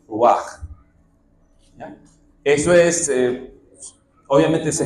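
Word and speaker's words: רוח: De hecho, así como en griego tenemos neuma, con P, neuma, la palabra equivalente en hebreo es ruach o ruach. ¿Ya? Eso es, obviamente se escribe con letras hebreas, pero si usted lo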